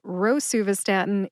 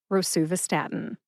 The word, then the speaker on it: rosuvastatin: But rosuvastatin is the official pronunciation. So go with rosuvastatin.